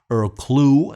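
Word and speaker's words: Earl Klugh: which I have on Vino by Mofi actually ear clue as a lot of people correct me you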